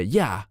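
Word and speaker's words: יה: En el hebreo moderno actual, para decir 15, decimos 9 más 6, porque no queremos escribir ese nombre sagrado de Dios que se pronuncia Yah en este caso.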